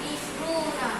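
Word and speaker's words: عشرون: Isrun bawah sebut isruna. Okey, ulang kelas. Isruna. Isruna. Isruna. Kena tengok dia punya ejaan ni. Kenapa panjang? Kerana ada wau.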